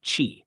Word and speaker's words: qi: is to balance the body's energy or Chi pronounced Chi and restore Harmony to promote healing and well-being